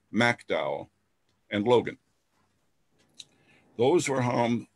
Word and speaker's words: McDowell: the southern coal fields kanawha that's how it's pronounced you folks from out of state kanan fayette raleigh mercer mcdowell not mcdowell mcdowell and logan those were harmed to the far